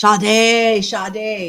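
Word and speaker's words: Sade: and and did Ena do Smooth Operator sh shade yeah yeah yeah spelled it's spelled without the H but it's pronounced with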